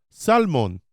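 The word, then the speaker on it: סלמון: Hebrew you know how in the United States we say salmon they say Salman the L is not silent there are no silent words and or silent letters in Hebrew so I think I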